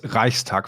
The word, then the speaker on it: Reichstag: Okay, so what about like the Reichstag fire? Is that one? That's it's Reichstag fire. Reichstag. But see, right there, I'm like, right away, I'm like, Reichstag.